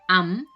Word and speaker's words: amb: Y hay otras palabras, por ejemplo, en este caso, am, que esta B del final no suena, como si no estuviera.